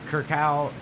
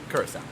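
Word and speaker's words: Curaçao: uh whatever i i don't know how to pronounce the name kirk kirkau kurt curse howe christoph curse our good job curse up blue curacao yeah but it seemed like there's like a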